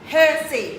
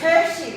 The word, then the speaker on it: Hersey: Hersey. Yeah, not I keep Hersey, thinking of not Hersey. Hershey, like chocolate. Yep. There's no silent H.